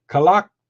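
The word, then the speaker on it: Kalākaua: How do you pronounce this? King Kalakaua. And the Merry Monarch. It's easier to say. Last King of Hawaii. I can't. Kalakaua.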